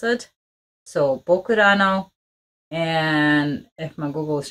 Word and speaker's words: ぼくらの: 11 hours uh so the title is I think it's like translated Japanese way it's writing and the way you would pronounce it so bokurano and if my Google is translating things correct